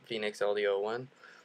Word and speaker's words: Fenix LD01: That's a 01, not the letter O, but pronounced Fenix LD01.